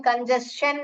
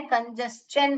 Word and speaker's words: congestion: Okay, इसका pronunciation कंजेशन नहीं है, कंजेस्शन है.